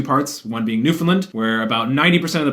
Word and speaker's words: Newfoundland: Newfoundland. Put the emphasis on the new, not the fin, which is like an FN, not even an I. Because I pronounced it Newfoundland before, but all the